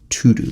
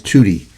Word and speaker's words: Tutu: that there's a quote desmond tutu i always thought it was tutti but it says to do maybe it's pronounced tutti i don't know so you know this